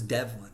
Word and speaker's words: Devlin: Now, her last name was Devlin, Devlin. Now, you might be saying to yourself, "Oh, that kind of rhymes with the devil," and that's because, as